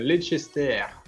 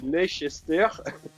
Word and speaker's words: Leicester: Alors, Manchester United contre Leicester.